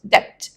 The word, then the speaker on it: debt: money it means it's debt now the b it's pronounced very slight debt it's like it's not